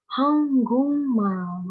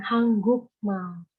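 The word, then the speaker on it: 한국말: Ini di sini tajwidnya ada dua. Jadi yang N ketemu G sama konsonan G ketemu M. Dibacanya eng. Hanggungmal, bukan hanggukmal.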